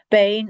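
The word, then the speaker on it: Beinn: So Bain is the most common one. You in Scottish English, you know it as Ben.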